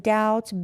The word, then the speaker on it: doubt: And doubt, B is silent.